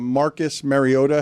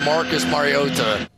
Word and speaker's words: Mariota: Marcus Mariota. Marcus Mariota. And the internet was just like, "This can't be right." And then but they replay. That's not how you say it. On NBC's broadcast, they do the starting lineups where the players say their name. So you hear Marota now saying his name. Marcus Mario. No, he's saying it wrong.